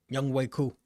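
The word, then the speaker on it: Younghoe Koo: So shout out to Young Man on that one, or how the hell you pronounce his name. Nice. But cool. I'm real still. Say it again. Young Way Cool.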